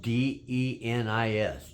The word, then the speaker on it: Denis: But my name is spelled Denis, just like Dennis, but with one N.